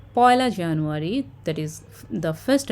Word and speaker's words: পয়লা: la, we need to read it as poila. Okay, just like you have memorized 1 and st is first, in the same way ek and la together it makes poila. So we need to pronounce it as poila only when we talk about the dates.